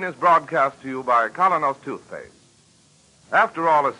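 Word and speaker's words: Kolynos: May morning if you do not already use Kalos toothpaste won't you try it soon that's spelled k o l y n o s colos toothpaste now back to Barbara and Mr Keem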